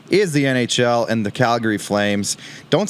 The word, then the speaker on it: Calgary: It's Calgary.